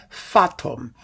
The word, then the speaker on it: Fatum: a tone poem called fatum f-a-t-u-m fattom it kind of rhymes with sputum it's absolutely dreadful now